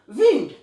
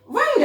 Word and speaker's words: wind: Just like see the word विंड, विंड एयर, द विंड is blowing. इन the same way वाइंड अप, अब देखिए मेरे spelling same है, WIND, but what I